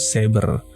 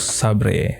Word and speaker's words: Sabre: Ini gue nggak tahu ya dibacanya itu Sades Sabre atau Sades Saber, karena kalau pronounce Inggrisnya itu tuh Saber. Tapi waktu gue nonton dari official YouTube-nya, salah satu adminnya ngomong ini tuh Sabre. Jadi kemungkinan gue bakalnya punya Sades Sabre aja.